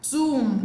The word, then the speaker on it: tomb: Plan, settle, thumb, tomb, not tomb.